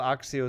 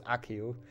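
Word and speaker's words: Accio: axio axio spell book is it even it's not axio right that's how they say it in hb4 pc so i kind of go with that but i'm pretty sure it's accu hey nice jumbo uh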